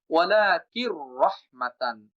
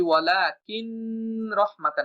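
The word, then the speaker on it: وَلَٰكِن رَّحْمَةً: পাতলা করে উচ্চারণ করতে হয়, যেটা আমরা র উচ্চারণের ক্লাসেই শিখে আসছি। ওয়ালাকির রহমাতান, আমি যদি বলি ওয়ালাকিন রহমাতান, এটা ভুল উচ্চারণ। আমি যদি বলি ওয়ালাকির রহমাতান, এটাও ভুল উচ্চারণ, কারণ রতে দেরি করা যাবে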